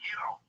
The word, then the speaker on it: gyro: Why don't you go make me a gyro, Giannis? Okay. Whoa. That's out of the line. That's racist. I'm half Turkish. I did my DNA. I'm a rape baby. So, and it's pronounced Yiro.